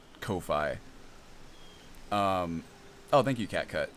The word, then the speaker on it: Ko-fi: Is that how you pronounce that? It just looks like Ko-Fi.